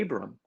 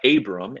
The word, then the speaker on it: Abram: Remember, God said to Abram that not only will the world be blessed